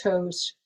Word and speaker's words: Thoth: have heard of uh thoth or sometimes pronounced toast she's the counterpart um